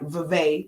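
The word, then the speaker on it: Vivek: their messaging is like Vive that's how you pronounce his name Vive ramaswamy has said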